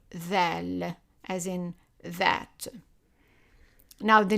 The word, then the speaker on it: ظ: And the pronunciation is like a th, like dhal, but in the back of the mouth. So it's like when you pronounce that, but instead of pronouncing the vowel e, you pronounce it o. So it's that, that's the